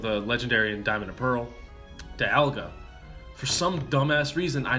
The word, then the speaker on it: Dialga: peaking of Yaga you think it would be Dialga it's actually Dialga really Dialga even though so I was still pronouncing it wrong fine that that's what that's what the Pokedex pro says they say Dee Agha despite dial being part of a clock and